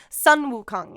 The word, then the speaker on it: Sun Wukong: And here, y'all get to hear Yinny correct my pronunciation here. The Monkey King, Sun Wukong. Sun Wukong, yeah.